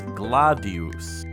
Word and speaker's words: gladius: However, it's worth noting that the Roman sword is specifically pronounced gladius. Since North American English is rooted deeper in Latin, we can safely say that it's gladius.